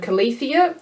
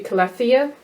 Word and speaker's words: Calathea: I say Calathea, but I've heard Calathea, even though the E is in the wrong spot for me, so it could be Calathea.